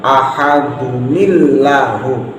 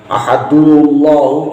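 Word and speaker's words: أَحَدٌ اللَّهُ: Ahadun Allahu juga nggak boleh karena ini hamzahnya hamzah wasol. Ahadullahu juga nggak dibenarkan.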